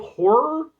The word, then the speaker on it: Ho99or: I don't know if horror was always supposed to be part of the